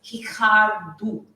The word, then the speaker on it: Ricardo: um because his name is spelled like Ricardo, but R, initial R in Portuguese sounds almost like an H. So it's Hikaru and the O at the end sounds like a U.